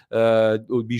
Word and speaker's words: Bijol: This is the case, for example, with Yaka Bighol, Bighol should be the correct pronunciation, class 99 defender of Udinese who is also doing very well at the European with Slovenia.